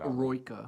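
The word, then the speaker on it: Eroica: So is that how you pronounce it? I've never heard it said. Aroika.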